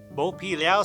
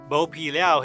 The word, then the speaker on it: 剝皮寮: North or to peel in Mandarin the word meaning to peel is pronounced bow and so over time Bo pilau Street became the common name in 2003 the city